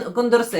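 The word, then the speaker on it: Condorcet: Так, ну, мабуть, він кондорсе. Якщо француз, то, е, наголос на останній склад.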